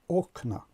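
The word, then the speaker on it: окна: ا آمده است و شکل جمع این کلمه رو ساخته است و تلفظش شده است اوکنا. زده در هجای اول افتاده است، نه در هجای آخر.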